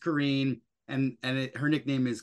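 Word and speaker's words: Corinne: is Karen it looks like Karin but it's pronounced Karen and and her nickname is Connie so let's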